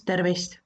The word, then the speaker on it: tervist: common way to say hello in estonian is terrorist terrorist terrorist terrorist if you want to be